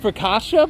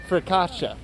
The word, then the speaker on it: focaccia: you're making me laugh what's it called for kasha bro nobody ever says that it's actually it's even pronounced a little bit different than that people pronounce it different ways but you're talking about focaccia i'm going to look